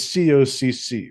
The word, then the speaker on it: Koch: of it this way is cocc right but it's spelled Koch but everybody says who wouldn't find that